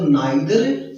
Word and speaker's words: neither: नाइदर ऑफ का हिंदी अर्थ होता है दोनों ही नहीं, यानी कि आइदर ऑफ और नाइदर नाउ, जिनका उच्चारण इधर ऑफ भी बोला जाता है और नीदर ऑफ भी बोला जाता है।